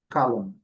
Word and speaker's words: column: Aqui, no mesmo toada, no mesmo padrão, ali é o final MN, letra N não pronunciada, column, column, aqui mais curto, aqui mais longo.